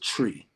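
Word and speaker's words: Twi: uh it's it's pronounced it's spelled t-w-i but it's pronounced tree so that's the the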